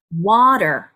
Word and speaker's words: water: 두 박자를 주는게 아니라 water water 이렇게 해서 앞에 음절을 조금 더 길게 발음하시면 자연스럽게 들릴 수가 있습니다 자 그 다음 단어